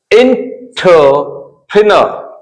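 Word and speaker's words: entrepreneur: ये बोल रहा है letters EUR sometimes be pronounce as अ। EUR, यदि पूरा का पूरा ये जो दिख रहा है झुंड EUR, इसको अ पढ़ते, अर नहीं, अ।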